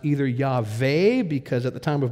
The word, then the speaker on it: Yahweh: It definitely was not Jehovah, because in Hebrew, a four consonant word doesn't have three syllables. It only have two. And there is no J in biblical Hebrew, so it couldn't be Jehovah.